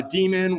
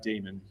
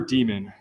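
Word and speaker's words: daemon: of it at front it's still pronounced demon though and not uh Damon so this is uh the docker demon that it's referring to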